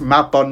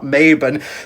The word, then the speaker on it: Mabon: autumn equinox and that his name is pronounced Mabon, not Mabon, but that's really not my fault.